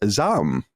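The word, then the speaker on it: ZA/UM: just did with Hogue on zaum which is actually pronounced Zam which I learned when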